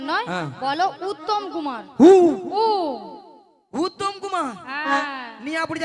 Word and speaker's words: উত্তম কুমার: শ্রী ঠিক করে উচ্চারণ করো তুমি ঠিক করে উচ্চারণ করো বলো শ্রী শ্রী শ্রী শ্রী শ্রী শ্রী উত্তেল কুমার নয় বলো উত্তম কুমার উত্তম কুমার হ্যাঁ নিয়া পড়ি আমি কুত্তেল কুমার